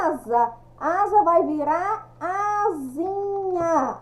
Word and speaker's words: asinha: Asa vai virar asinha. A escrita com S, mas a pronúncia com Z.